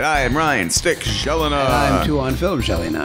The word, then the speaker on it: Gelinas: I am Ryan Stick Gelina. And I'm Tuhon Film Gelina. That is Gelina with a gel and not a Jen.